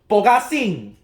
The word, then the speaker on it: Bogasing: It's how you pronounce Bogasing, I'm guessing. Or maybe we could pronounce it in the Huaqiangbei way. Bogasing! That's what we Chinese folks pronounce it.